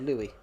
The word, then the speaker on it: Louis: So when you see someone called Louis in France, they're called Louis because the S is silent.